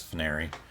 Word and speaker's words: Fnary: And I've referred to you as Fnary and pronounced it as Fnary this entire time.